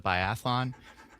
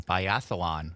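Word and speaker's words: biathlon: I watched a little bit of the bialon or as the uh the announcers called it, the bialon with all the athletes. Um, that's one of my pet peeves when people add syllables to words like that.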